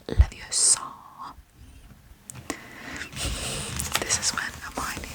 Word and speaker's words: Leviosa: You're all saying it wrong. It's LeviOsa, not LeviOsa.